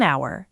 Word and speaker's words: hour: An hour. The H is silent, so it sounds like a vowel.